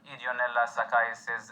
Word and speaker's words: Ideonella sakaiensis: least for this presentation, Ideonella sakaiensis, and yes, the N is silent.